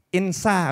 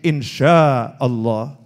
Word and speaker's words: insya Allah: Nah tulisannya INSHA tapi dia bacanya itu insa. Oh keliru nih tuh ya. Oh itu pakai shin, insya Allah.